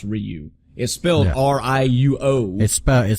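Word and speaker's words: Riou: Ryu I which I apparently his name is pronounced Ryu it spilled Riu oh it spell it spell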